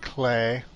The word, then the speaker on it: Klei: little raid Must Fall it's a Dutch word it's pronounced clay most of it's been